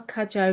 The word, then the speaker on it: Cudjoe: Today we are joined by Danielle Kajjo Macowski. I'm hoping that I have pronounced your surname correctly.